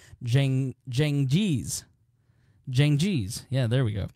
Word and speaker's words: Cengiz: marry his Turkish fiancée, Hatice Seng, there's a pronouncer, Cengiz.